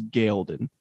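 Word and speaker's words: Ghealdan: and the king of galdean i can't even pronounce him g-h-e-l-d-o-n this one's tough yeah this one is tough because parent says in episode one and he says gail didn't oh really i didn't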